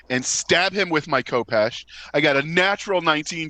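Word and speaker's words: khopesh: Yeah, it's How say Kopesh. It's Kopesh for sure.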